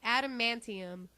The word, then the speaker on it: adamantium: pronounce that stuff alanium ad what adum a d adamantium adum there you go adamantium we apparently can't pronounce